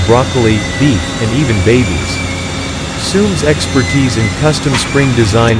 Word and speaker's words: Suhm: manufacturer since 1885 in our founding, Karl Suhm, pronounced Soom, immigrated to Houston, Texas, in 1885 to fulfill his passion for blacksmithing and metalworking.